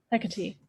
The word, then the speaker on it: Hecate: Hecate.